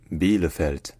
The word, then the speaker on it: Bielefeld: park so in German this city is called beeld beeld be the felt beeld all right if you enjoy learning our pronunciations don't forget to subscribe to my channel